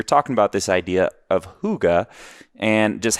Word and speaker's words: hygge: this idea they have in their culture called hygge and I think it's spelled h-y-g-g-e and it's pronounced hygge and there's no direct